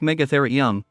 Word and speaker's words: Megatherium: When it lived in both North America and South America between 2.6 million and 11,700 years ago, the Megatherium, pronounced Megatherium, was one of the largest mammals to have ever been on the globe.